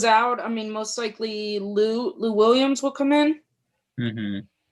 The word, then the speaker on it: Luu: by the name of Peter Lou. His last name is spelled Luu.